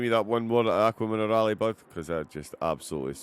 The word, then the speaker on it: Acqua Minerale: Go and give me that one more at Acqua Minerale, bud, because I just absolutely... Oh, you said it right now. Yeah, Acqua Minerale.